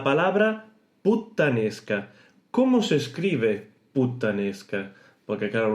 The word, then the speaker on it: puttanesca: Porque claro, un español lo oye, igual no va a distinguir si hay una doble consonante o no, y lo va a poner con una T sola, o sea, puttanesca, que según cómo se pronuncie puede que suene también así, pero no. Esto es con doble T.